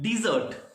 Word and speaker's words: dessert: Next word DESSERT, डिजर्ट। और second word है DESERT, डेजर्ट। देखिए थोड़ा सा प्रोनाउंसिएशन में भी अंतर है। मैंने बोला डिजर्ट और दूसरा डेजर्ट, ठीक है।